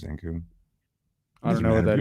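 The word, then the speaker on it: Zankou: Do you say Zanku chicken? It's Zanku.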